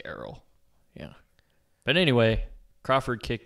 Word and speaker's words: Errol: his first name Earl it's Errol it's Arrow how's it spelled it's like e r r o l or something oh I always thought it was a rule no it's Arrow that's on me I